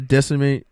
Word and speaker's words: disseminate: the job is to disseminate information distributed across. Disseminate. You said decimate.